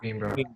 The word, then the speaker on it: Coimbra: So another thing that we did whilst in Portugal was we went to, I don't know how to say it, Coimbra? Coimbra, yeah.